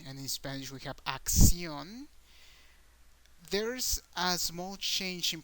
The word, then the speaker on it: acción: There's a small change in pronunciation or intonation in the syllables of these two words because in English we have action, so the a is the strong sound of the word.